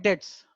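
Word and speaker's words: debts: बैड डेट्स, अब यहाँ पे भी साइलेंट है, बैड डेट्स, amount irrecoverable from डेटर्स।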